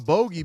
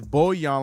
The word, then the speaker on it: Bojan: We can't call him Bogey because that's not how you pronounce his name. It's Bojan, like a Bojan cube.